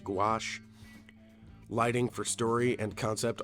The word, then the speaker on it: gouache: in watercolor and uh go otherwise pronounced gouache lighting for story and